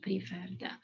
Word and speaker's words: preferred: The last syllable is stressed, so double r before adding ed, preferred.